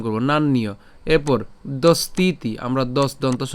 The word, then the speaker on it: নান্য: জফলা থাকার কারণে আমরা কার মতো উচ্চারণ করব? ইয়র মতো উচ্চারণ করব, ঠিক আছে। তাহলে নান ইয় একসাথে উচ্চারণ করব, নান্যীয়।